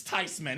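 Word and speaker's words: Theismann: And he said, "Of course it's Tyman. It's a German name."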